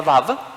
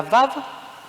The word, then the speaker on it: Vav: letra del alfabeto hebreo, que hoy la pronunciamos como una suerte de V corta, pero al parecer los judíos yemenitas de Teimán son los judíos que mejor guardaron la pronunciación antigua, que es una suerte de U.